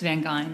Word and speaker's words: Van Gein: It's Van Goine.